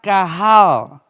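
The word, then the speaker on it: קהל: Y en el hebreo se traducía asamblea o congregación con la palabra kahal. Q-A-H-A-L, kahal, que significa eso mismo, asamblea o congregación.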